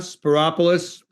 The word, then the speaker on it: Spyropoulos: Spyropoulos, it rhymes with metropolis. For the clerk of the